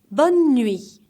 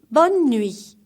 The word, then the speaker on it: bonne nuit: bed so let's repeat one more time together bonne nuit look at my lips again bonne nuit 30 again in new e is silent bon journée which means have a good